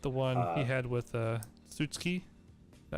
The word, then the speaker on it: Tsukihi: I like the one he had with Tsutsuki. Is that how you say it? Yeah. Yeah. Wait, Tsukihi?